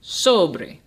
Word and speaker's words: sobre: last syllable beer now the last word sobre I'll say it one more time sobre Oh Bray is Jana because the emphasis is on the second to last syllable soubry what I've done